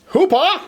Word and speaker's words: Hooper: then we have Friday Hooper Hoopa you have to say it that way it's just it's the rule if for the cop and you don't pronounce it Hoopa then you're doing it wrong uh we've got Mr